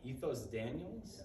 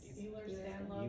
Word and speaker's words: Ehlers-Danlos: If I pronounce it right, Ethos Daniels? Ehlers-Danlos.